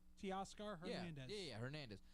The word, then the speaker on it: Teoscar: Teoscar Hernandez. Yeah, Hernandez. I was going to say Tescacar, but I'm like, that's not right.